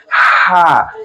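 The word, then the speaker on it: ح: So, that's why the second child is called ha. So, you want to put it like this. When you run What do you do? You're panting and what? You pronounce ha.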